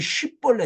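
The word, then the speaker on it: שִׁבֹּלֶת: 근데 어떻게 발음하냐면요 길라 사람은 sh가 이게 쉬벌레 shi 쉬벌레 발음되는데 에브라임 사람 그 sh 발음이 s로 발음 돼요. 십벌레 씹벌레 그 요거는 예불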